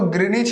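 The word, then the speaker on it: Greenwich: अंग्रेजी में ग्रीनविच हो गया, कोई दिक्कत नहीं है, तो हिंदी में उसको ग्रीनिच ही पढ़ते हैं। यहाँ ग्रीनविच हो गया, डब्ल्यू को साइलेंट हो जाता है हिंदी में, चलो कोई दिक्कत नहीं।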